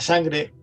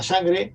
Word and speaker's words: sang: de Occitania, occitano, que la sangre se escribe como sang, S-A-N-G, sang, de sangre, sang, escribe así, se pronuncia así, y real, sangre real, es reial.